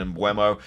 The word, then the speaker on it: Mbeumo: Going into midfield though, we have Maddison, Saka, Sterling, Bruno Fernandes, and Mbeumo, or Mbumo, however you want to pronounce his name.